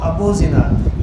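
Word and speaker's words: أبو الزناد: پڑھیں گے، اس کو ابو زناد، یہ خف دیکھ رہی ہے اوپر لکھا ہوا بھی ہے. ہاں اس کے تلفظ ابو الزناد نہیں ہے، ابو الزناد ہے جی، بغیر تشدید کے پڑھتے ہیں جی۔ عن ابي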